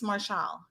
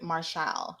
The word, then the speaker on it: Martial: right he says it's marshall and he just spells his name so i'm like but she's saying it's pronounced like marshall as a poor as opposed to martial how i've been pronouncing